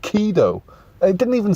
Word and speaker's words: Ghidorah: this monster's name, and although it's pronounced Kido, which in English sounds like Kido, when you see it spelt, it almost does look like gonorrhea.